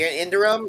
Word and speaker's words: Iridium: The Indurium, is that how you pronounce it?